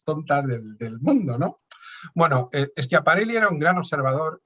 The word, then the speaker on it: Schiaparelli: Me pasó toda la vida diciendo Schiaparelli hasta que un italiano me dijo que se pronuncia Schiaparelli, ¿no? Y desde entonces ha sido para mí como, Dios mío, le pido perdón por las miles de veces que he pronunciado su nombre mal pronunciado.